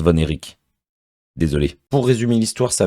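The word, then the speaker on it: Von Erich: du film j'avais dit la famille voner rich mais en fait ça se prononce vonéic désolé pour résumer l'histoire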